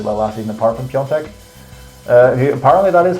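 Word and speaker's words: Piątek: But then again, no AC Milan forward did really well last season apart from Piontek. Apparently that is how you pronounce it.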